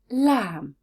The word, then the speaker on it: lamb: know that pronunciation rule when the word ends in m b the b is always silent so words like bomb and lam if you found this